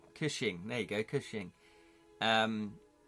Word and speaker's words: Cushing: I can't pronounce his name. Cushing.